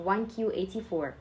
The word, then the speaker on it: 1Q84: George Orwell and actually in Japanese both the letter q and the number nine are pronounced the same so you can call the novel 1984 or 1q84 now this is a 1000